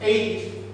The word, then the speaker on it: Aegis: Bueno, pues Aegis, que es como se pronuncia en inglés, resulta que traducido al español significa égida.